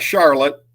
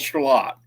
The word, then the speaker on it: Charlotte: I love how you pronounce that, by the way. Charlotte? Is that how y'all say it? Yep, it's not Charlotte. Our little town is called Charlotte.